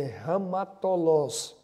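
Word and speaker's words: ἁμαρτωλούς: E essa palavra no original, ela talvez a pronúncia seja diferente, mas é assim, ramatolos.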